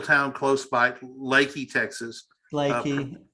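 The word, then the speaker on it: Leakey: Lakey. Pronounced.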